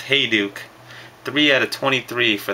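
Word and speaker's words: Hejduk: shop the other day it's pronounced hey duuk three out of 23 for the Avalanche hey duuk the patches are freaking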